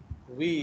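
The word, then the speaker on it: Woese: His name is Carl Weiss. Carl Weiss. Okay, so Carl Weiss, not Weiss. Okay, his name is Carl Weiss. In biology, OE is pronounced as E.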